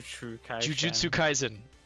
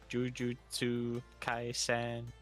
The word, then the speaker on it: Jujutsu Kaisen: I swear I can kind of pronounce Japanese. Dude, I can't even say juju. Jujutsu kaizen. Kaisen. Kaisen. Kaizen. Jujutsu Kaisen.